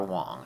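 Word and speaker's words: Dragon Wang: Sega's Dragon Wong, and it is pronounced Wong unfortunately, gave Japanese moms of the era the opportunity to say, "We have Spartan X at home."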